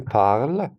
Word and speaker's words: parles: Tu parles, you speak. Parle with tu, ending with ES, and we don't have to pronounce both.